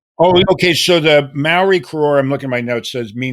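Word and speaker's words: kororā: And then the Maori name for it is Korora, I think is how you pronounce it. It's more like Keikaora, something like that.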